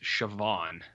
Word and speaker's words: Siobhan: I believe this person's name is pronounced Siobhan. Oh. And the only reason I know that, Jared, is because of Succession. Because there's a character named Siobhan, and it's spelled like this.